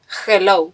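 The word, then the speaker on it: hola: वह सोचता है कि हैलो जोला है, लेकिन मेरा प्यार नहीं, स्पेनिश में h मूक है, इसका उच्चारण नहीं किया जाता है, इसलिए यह होला है, लेकिन इसने मुझे हंसाया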